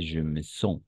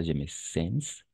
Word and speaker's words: sens: On va prononcer je me sens, pas je me sens.